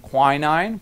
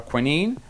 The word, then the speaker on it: quinine: But still, just the same, Ghanaian quinine or quinine depending on British or American pronunciation, was just incredible.